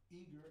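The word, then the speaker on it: Eagar: Post Office Box 820, Eager, Arizona. Eager is spelled E-A-G-A-R, and 85925.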